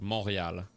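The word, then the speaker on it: Montréal: It's pronounced moral.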